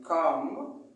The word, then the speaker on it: calm: Mais le L ne se prononce pas. I could not calm. Aussi, on dit calm.